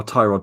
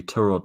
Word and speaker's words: Tyrod: uh pronounced well like how tyrod taylor is actually turo taylor yeah exactly but no